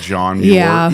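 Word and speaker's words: Muir: See, and that's how people people pronounce it like Moyer. Mure like John Mure even though he was mu I r.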